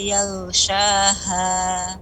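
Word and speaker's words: يغشاها: Wal laili idza yaghshaha. Ya, huruf ghain itu juga lebih isti'la'nya. Yal naiknya suara ke langit.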